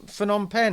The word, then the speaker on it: Phnom Penh: from Ritherpole in, do you know how to pronounce? Is it Phnom Penh? It's Phnom Penh, isn't it?